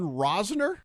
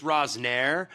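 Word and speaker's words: Rozner: Yeah, I don't know how to say his I don't I think I think it's Rosnire because he's French, so you got to have a little stank on that name there at the end.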